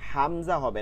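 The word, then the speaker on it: همزة: প্রথমেও গোলহা পরেও গোলহা গম্ভীর আওয়াজে হামজাহ আমরা অনেকে বলি হামজা এই জিব না এটা হচ্ছে হামজা এরপরে ইয়া খালি আলিফ জবর ইয়া এখানে এক আলিফ টান দিতে হবে।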